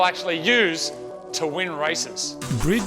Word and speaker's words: BRIDE: Brid Seats, or Bride as they're mostly pronounced in Australia, produces high quality seats